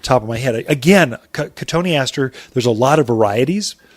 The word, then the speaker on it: cotoneaster: A companion plant to that would be cotoneaster, or the way people pronounce it is cotton Easter. That's how you spell it.